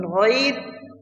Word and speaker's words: غير: The ghain in ghair has a rounded sound from the throat.